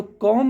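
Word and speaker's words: comb: उसको हम कोम कमी तो कम नहीं कोम बोलना रहता है दूसरा है जैसे थम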